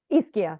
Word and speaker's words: Ischia: Ishka. Is that Ischia.